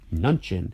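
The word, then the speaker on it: Mnuchin: Trump Administration next Steve nunin and I don't actually I don't normally hear the n in nun nunin is spelled m n u c h i n I don't normally hear the n pronounced so maybe I was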